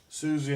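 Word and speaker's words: Siouxsie: Susie and the Banshees. Yeah, right, it's spelt weird, it's got an X in it.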